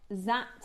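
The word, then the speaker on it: Dzi: So these are known as Z agate pronounced Z spelled D Z I and again they originated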